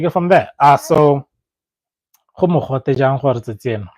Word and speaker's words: mogote: How to pronounce mogote and make sentence, please.